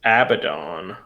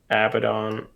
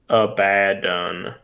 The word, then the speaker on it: Abaddon: next week right here it says it's pronounced Abaddon Abaddon but then it also says so some say a bad doesn't even matter yes so